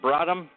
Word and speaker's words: Bradham: Is that the right pronunciation? Bradham?